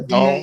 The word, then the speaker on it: DAZN: Is that how you say it? Yeah, DAZN? that's the The Zone.